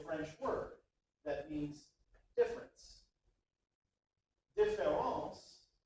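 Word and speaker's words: différance: word that means difference differance pronounced exactly the same way but with an a is dar's own unique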